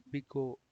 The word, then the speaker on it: big O: We denote by O of g of n, pronounced as big O. Okay, I was pronouncing it wrong the whole time. It is not just O, it is a big O.